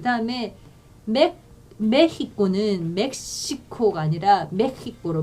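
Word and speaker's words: México: 그 다음에 메히코는 멕시코가 아니라 멕시코로 발음하셔야 돼요.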